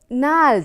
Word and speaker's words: gnarled: Gnarled, I told you, G is a silent word here. G is a silent letter.